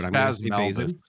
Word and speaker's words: Bazin: I'm going to pronounce this Bazin. I apologize if it's Bazin or Bazin. It's Bazin. Yeah, obviously.